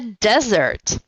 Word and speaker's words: desert: А desert с одной буковкой S, которая читается как Z. Desert.